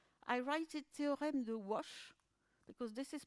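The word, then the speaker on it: Łoś: and it's ah i write it to remdo wash because this is pronounced wash and i find it very difficult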